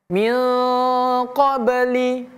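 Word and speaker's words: مِنْ قَبْلِ: Bukan min tapi mil. Mil qabl, namanya ikhfa. Mil qabli.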